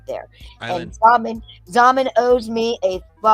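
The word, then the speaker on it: Xaman: It's literally Zaman.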